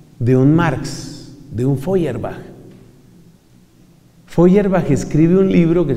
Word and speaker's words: Feuerbach: Piense en la agresividad de un Marx, de un Feuerbach.